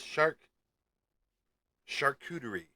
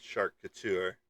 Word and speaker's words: Sharkcuterie: Kanatani and it is Shark Shakuerie is what it is. Shakuerie. I know I pronounced it wrong the first time I said Shark Couture, but it's Shakuerie like a shak a shakuterie board.